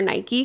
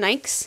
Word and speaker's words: Nike: The Nikes? No. Nikes. But N-I-K-E is Nike. That's not Nike. It needs a Y. The E is a long E.